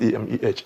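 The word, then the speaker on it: Emeh: Thank you, but my name is pronounced E-M-E-H, Eme. Eme. Eme. Yes. Okay, not Ene.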